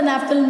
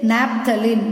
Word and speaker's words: naphthalene: You cannot simply say naphthalene. The spelling is different. NAP, this H is there, H is silent.